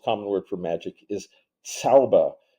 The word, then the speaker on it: Zauber: So the German most common word for magic is Zauber, and that sounds like Tsar with a TS at the beginning. It's spelled with a Z.